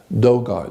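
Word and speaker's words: Dogon: like do God the is spelled D o g o n Doan not Deon Deon is a cic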